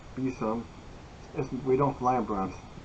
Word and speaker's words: besom: And the witch's broom bosom, pronounced besom, we don't fly in brooms.